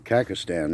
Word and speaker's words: Kazakhstan: Kazakhstan is actually how you say it, so I was able to get that corrected.